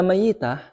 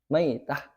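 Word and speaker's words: ميتة: ngelip lagi Terus kata mayitah mayitah yajuzu F takfif Wat tasdid boleh ditakfif boleh ditasdid ditakfif bacanya gimana engak pakai tas berarti bacanya bukan meid maitah maitah kalau pakai tasdid jadi boleh dua Ya baik dan yang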